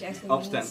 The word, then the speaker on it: Upstand: now how do you say that in Danish upand gospel and so and so what happened was